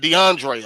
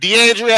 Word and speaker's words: DeAndrea: And if she was in the courtroom right now, Detective Barnes pronounced her name wrong. He might have said DeAndre or something like that. And uh she said DeAndrea Harris.